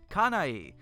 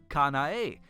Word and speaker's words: Kanae: we live in japan her name is kanai pronounced kanae recently kanae told me that her english teacher and expat from america at school calls her kanai she told me that